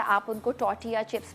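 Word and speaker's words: tortilla: आप उनको टॉर्टिया chips भी कह सकते हैं, जिसमें टी साइलेंट होता है, कुछ लोग टॉर्टिला बोलते हैं बट टॉर्टिला नहीं, टॉर्टिया चिप्स भी होते हैं।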